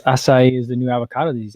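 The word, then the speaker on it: açaí: real good martha says for years i pronounced it akai berries until i heard it pronounced with a soft c yeah i could i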